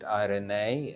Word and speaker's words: Eirene: And our name, Eirene, is actually pronounced Eirene, and that is the Greek word for peace.